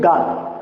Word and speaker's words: Gauss: तो जो गाउस theorem थी, तो गाउस थ्योरम की जो खोज है उस वैज्ञानिक का नाम था कार्ल फ्रीडरिच गाउस।